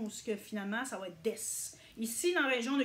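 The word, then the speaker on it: です: finalement, ça va être des. Ici, dans la région de Gifu, qui est le centre du Japon, on utilise rarement le U. Mais si vous allez à Tokyo, par exemple, ils prononcent le U.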